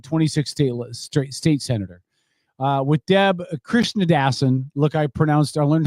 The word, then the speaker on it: Krishnadasan: with Deb Krishnadasan. Look, I learned how to pronounce her did.